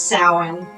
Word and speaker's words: Samhain: All right, so we got over the pronunciation. It is Samhain.